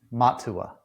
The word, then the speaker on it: Matua: So Seti and Yes, Matua, correct?